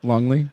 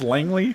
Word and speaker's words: Langley: Longley? Ma'am, it's pronounced Langley. That's what I said.